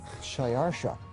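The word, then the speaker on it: Xšayāršā: His Persian name, in Old Persian, which is his original native language, is Shayarsha. Now that was hard for the Jews to pronounce, so they said Ahashverosh.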